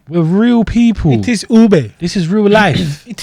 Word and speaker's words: ube: was it ube we're real people it is ube this is real life it is ube again